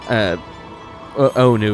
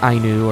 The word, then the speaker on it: Ainu: Who taught the Ainu people how to hunt, fish, wave, and fell trees. Yeah. Also, I screwed up. It's not Onu, it's Ainu. That's how you pronounce it for that.